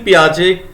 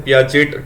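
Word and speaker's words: Piaget: ठीक है, इसको हिंदी में पियाजे बोलते हैं। यहाँ पर इंग्लिश में पियाजेट ट आ रहा होगा, ट साइलेंट है यहाँ पर।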